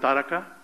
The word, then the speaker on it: Taraka: Taraka, we call it Taraka. We pronounce it Taraka.